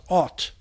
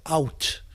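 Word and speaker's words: אות: Vav is sometimes pronounced aw. It's like an O sound. So the word is pronounced ot, or out, and it means word.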